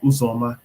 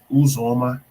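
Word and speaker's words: Uzomah: tight end this year cj usoma that's how you say it not not uzoma okay it's uzoma all right cj uzoma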